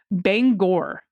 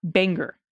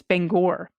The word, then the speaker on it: Bangor: and Stephen King live is pronounced Bangor not Banger it's Bangor all right this is